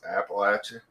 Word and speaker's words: Appalachia: learned one thing today and it's how to pronounce Appalachian yeah I was I was about to call